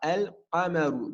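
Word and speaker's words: القمر: On dira al-qamaru. Donc le qaf, il fait partie des lettres lunaires. Donc le lem, on va le prononcer. On dit al-qamaru.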